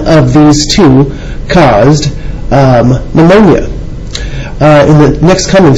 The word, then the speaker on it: pneumonia: bacteria reproduce or produce pneumonia I know it starts with the p but that's how you actually spell it ponia starts with a P Griffith's experiments Griffith isolated